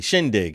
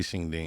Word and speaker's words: shindig: spelled out spell it it's shinging oh Shing dig di shindig oh shindig yeah we usually say shinging yeah Shing dig after